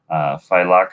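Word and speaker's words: Failaka: So, Faileka Island? Yes, Faileka. Okay. Yeah. Well, it's pronounced Faileka, but it's because in Arabic we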